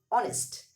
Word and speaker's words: honest: Though the word started with yach, the pronunciation of this word is honest.